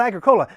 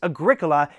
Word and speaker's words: Agricola: I know, and the word cola, it's like Coke. So, Agricola. I'm going to play the game called Agricola. No, it's Agricola, and it's kind of